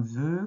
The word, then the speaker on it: vœu: Et on l'a aussi dans ce mot-là, par exemple, quand tu souffles tes bougies, tu fais un vœu.